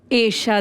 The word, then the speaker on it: Esha: हां बारिश में ईशा देओल आपके नाम का प्रोनाउंसिएशन एशा देओल एशा थोड़ा अलग है वो अलग नहीं